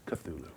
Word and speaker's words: Cthulhu: answer in my opinion hashtag ixtulu racists it's pronounced cthulhu hashtag cthulhu hashtag i